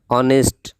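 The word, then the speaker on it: honest: এখানে লক্ষ্য করলে দেখতে পাবেন যে অনেস্ট শব্দটা এইচ তে দিয়ে শুরু হয়েছে, কিন্তু এর উচ্চারণ অ এর মতো, অর্থাৎ হ এর মতো না হয়ে অ এর মতো হয়েছে, বিদায় এখানে অ্যান বসবে।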